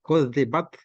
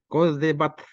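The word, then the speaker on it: كذبت: Kalau disebut kudzibat, nah, ada angin yang keluar, kudzibat. Nah, kalau diucapkan terus-menerus, kadzabat, tangan ditaruh di depan mulut, kemudian dicoba dicium bau, berarti bacaannya betul. Kan begitulah cara pengucapannya.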